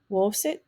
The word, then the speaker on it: wosit: It could also be found in the middle of a word. Wosit, wosit, and that's to hit.